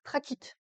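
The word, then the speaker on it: trachyte: Et puis celle qui en a pas, bah c'est la traquite. Alors ça s'écrit trachite mais s'il vous plaît prononcez-le traquite. comme les traquéoles des insectes.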